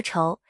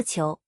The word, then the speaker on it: 仇: 你或许知道，仇在现代汉语中除了读作仇，在作为姓氏时还读作求。